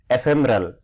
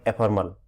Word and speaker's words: ephemeral: antonym of this eternal for the pronunciation of this ephemeral ephemeral not a formal ephemeral and this opposite is